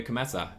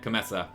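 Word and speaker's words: Kometa: Elio Cometa. That's not how you say it. Cometa.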